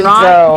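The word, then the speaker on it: Zhou: Joe. It's Dr. Joe. And Z-H-O-U, yeah. Oh, really? Yeah. But pronounced J-O-E.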